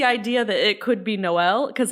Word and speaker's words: Noel: It's no, it is Noel. I'm just more used to I guess the American pronunciation of Noel.